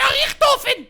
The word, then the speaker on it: Richthofen: least pronounce it right. It's Dr. Richthofen!